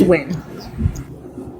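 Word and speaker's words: Nguyen: I can't say the name is spelled when it's pronounced win.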